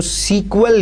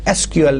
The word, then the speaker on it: SQL: इसमें से निकाल दिया, लेकिन स्टिल जो है अभी भी मतलब इसको सीक्वल ही कहा जाता है। समटाइम्स अगर आप प्रोनाउंसिएशन लोगों से सुने तो वो इसको सीक्वल ही कहते हैं, गो के जो ऑफिशियल जो इसका नेम है that is SQL, नॉट सीक्वल।